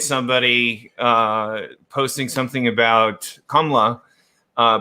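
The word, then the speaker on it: Kamala: uh posting something about kamla uh by the way that is how you say her name uh that's the appropriate kamla right uh if you were in india you would say kamla anyway long story there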